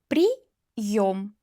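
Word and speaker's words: приём: Pri yom. Pri yom. After vowel i.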